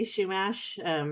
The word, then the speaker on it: Chumash: um to having said chumash um i i i wasn't gonna correct you a lot people say it different ways i say shumash but a lot of people will pronounce the h more um but i i